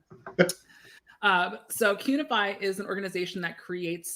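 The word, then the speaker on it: Qunify: Cunify is spelled like unify with a Q in front of it.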